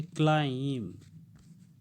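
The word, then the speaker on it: climb: बीच-बीच में जो है लास्ट का यह साइलेंट हो जाएगा अर्थात इसको हम को नहीं बोलना है इसको क्या पढेंगे हम लिखकर दे रहे हैं इसको हम कहेंगे क्लाइंब ए स्लाइम ठीक है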